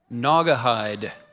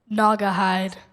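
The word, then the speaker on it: Naugahyde: Ngahide. Ngahide.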